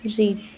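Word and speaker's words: read: पहला रीड। रीड मतलब क्या होता है? पढ़ना। उसका सेकंड फॉर्म होगा रेड। स्पेलिंग सेम रहेगी बस उसके पढ़ने का तरीका अलग रहेगा।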